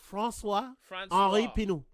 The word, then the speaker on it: François Henri Pinault: Oh, I will pronounce it for you. François Henri Pinault.